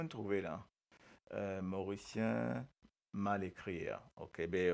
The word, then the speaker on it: Mauricien: Les autres connaît qui fait un Mauricien écrit comme ça. Euh, parce que quand nous prononçons Mauricien, nous prononçons Mauri et nous prononçons Sien, Mauricien, Mauricien.